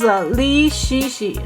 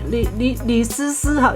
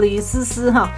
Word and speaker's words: Li Shishi: This is Li Shishi, Li Sisi. In Chinese pronunciation is called Li Sisi.